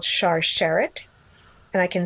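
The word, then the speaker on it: Sharsheret: through where they are right now it's called char sherrod and i can spell that for you it's s-h-a-r-s-h-e-r-e-t it's a national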